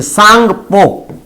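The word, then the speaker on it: Tsangpo: पर आप देखेंगे तो ये देखिए sanghpo इसमें टी साइलेंट होता है ठीक है तो हम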